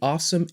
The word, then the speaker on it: Alxum: And that accessory would be the awesome 8-in-1 Nintendo Switch card holder. Now, I know the company writes their name Alxum, but they say it's pronounced awesome, so we'll just go with awesome.